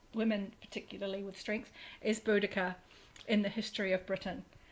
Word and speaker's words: Boudicca: Seriously, that- Boudica what- is amazing. Yeah, I haven't even heard that. Okay. Yeah. There's a lot of different pronunciations, and I may have it wrong, but it's Boudicca, and she was a warrior